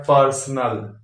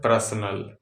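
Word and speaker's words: personal: जो कि गलत है अब य प है पर्सनल होना क्या चाहिए जो लिखा हुआ है पर्सनल पर्सनल लोग क्या बोलते हैं प्रश्न यानी रेफ जो दिया हुआ है रेफ वाले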